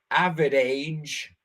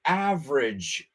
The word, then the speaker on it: average: Just remember, don't pronounce it average. Rima con la palabra bridge. Vamos a decir esto. The Brooklyn Bridge is not an average bridge.